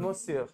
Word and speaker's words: monsieur: एक जाने से पहले मुझे ये प्रोनाउंस करके बताओ, ये जो मिस्टर को बोलते हैं मोज्यूर, मोज्यूर, Monsieur, monsieur, M-O-N is mo, C, monsieur, monsieur.